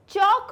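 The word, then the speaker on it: chalk: चौक में L silent होता है तो हम टॉक बना सकते हैं एंड वॉक बना सकते हैं.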